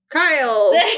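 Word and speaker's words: Chaol: thrown of glass it's it's K like chaos but with an l k k Kyle so it sounds like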